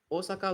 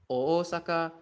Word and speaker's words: Osaka: The romai distinction is needed like Osaka, not Osaka. Yeah. Basically, yeah. A lot of like non-Japanese speakers, they tend to pronounce it as Osaka.